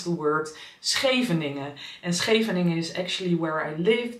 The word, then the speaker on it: Scheveningen: That is the beachy part of the Hague, but it has the really loud sch, which I think we can only pronounce in Dutch, and German people cannot pronounce it.